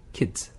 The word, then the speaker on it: kids: 이 K-E-Y-S 발음하고 구분을 해줘야 되는 게 K-I-D 네, 애들이라고 할 때 kid 네. 거기에 S가 붙이면 kids. kids 거기는 왜냐하면 D니까 아. 혀끝이 어디에 붙어야 돼요? 잇몸이 시작하는 네, 그 윗니 뒤쪽에 잇몸 뒤쪽에 붙었다가 네. Z 발음이 나는 거죠.